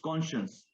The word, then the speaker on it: conscience: instead instead of saying conscience or conscience it's conscience what is your my conscience my my conscience